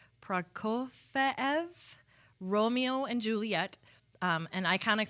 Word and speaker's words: Prokofiev: You'll hear classical pieces like, okay, I had to look up how to pronounce him. So it's Prokofiev, Romeo and Juliet, and iconic film scores including Apollo 13, which is my favorite composer, James Horner.